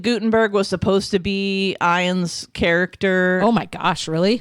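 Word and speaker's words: Ian: Stars ter read and ion is how you pronounced it it's ion yeah okay so ion this was the first one right they tried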